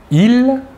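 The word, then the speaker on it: ils: personnel sujet tout d'abord le masculin il l'a s final ne se prononcent pas et le pronom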